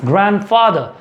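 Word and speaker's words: grandfather: ठीक है, इट्स ग्रैंडफादर। आपको ये चीज़ समझ में आ रही होगी, कितने लोग ग्रैंड फादर बोलते हैं। सो इट्स D silent in one sense.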